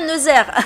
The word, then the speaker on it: Nazaire: voilà donc c'est maintenant j'ai la confirmation que ça se prononce bien nazaire parce que j'ai posé